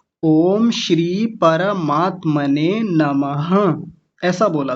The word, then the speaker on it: परमात्मने: परमात्म ने बोल दिया था। जबकि पर नहीं है। परमात्मने और दूसरा बताइए।